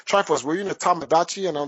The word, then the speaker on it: Tomodachi: Yeah, Tomodachi.